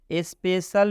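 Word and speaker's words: special: उच्चारण क हुआ है, स्पेशल में सी का उच्चारण सी का उच्चारण तलाबे श हुआ है, और टॉर्च में सी का उच्चारण च हुआ है।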